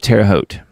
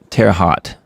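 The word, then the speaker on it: Terre Haute: Happened outside of Teroot, which I've heard how Turner, he calls it Terot, but I'm from Indiana.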